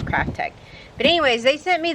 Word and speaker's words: Kraftek: a handheld pool vacuum crafttech is the name I often times mispronounce these but you see how it's spelled k r a f t e k so one would think it's crafttech but anyways they sent